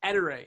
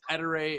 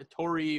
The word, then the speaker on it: Ettore: who's watching and listening it's pronounced ettere so every time i've corrected you i'm sorry but i was right it's etere it's not a tori or all the other different versions um and then the